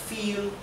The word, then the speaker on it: viel: Y recuerden que en alemán, además de que la V se pronuncia como la F, la I con la E se pronuncia I, como una I larga de español.